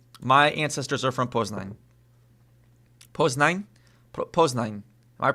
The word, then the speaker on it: Poznań: Poznań? Poznań. Am I pronouncing that right? Poznań. Poznań. Is that right? Am I pronouncing that right? Poznań.